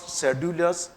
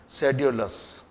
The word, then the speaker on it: sedulous: Look at the pronunciation, not सेड्यूलस, सेड्यूलस। Clear?